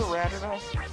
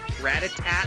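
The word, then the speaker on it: Rattata: have a Ratata? Ratata. A Ratata. Ratata. I've always had trouble pronouncing this name. I used to pronounce it Ratatat.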